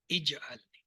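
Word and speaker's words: اجْعَلْنِي: صرف یہ یاد لکھیے، یہ لفظ جو ہے اجعلنی ہے، اجعلنی یا اجعلنی نہیں، نہ اس پہ پیش ہے نہ زبر ہے، یہ زیر کے ساتھ پڑھا جائے. بس اتنا یاد رکھیں.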